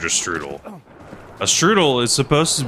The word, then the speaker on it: strudel: Whatever they made is not strudel strudel. Like I said, for some reason they kept calling it strudela, which does not sound like the correct way that you pronounce it either.